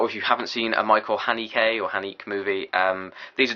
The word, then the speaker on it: Haneke: Since I've reviewed that, I now know that you're supposed to pronounce it Haneke. Which I didn't know, but I'm still going to call him Haneke.